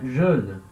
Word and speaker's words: Joël: Sem a trema, o O com o E tem som de E. Então eu leria Joël, né? Mas com a trema, eu estou indicando que eu tenho que ler o E separado do O.